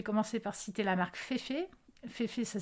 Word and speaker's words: Féfé: aléatoire je vais commencer par citer la marque Féfé féfice ça s'écrit F E F e pour fait en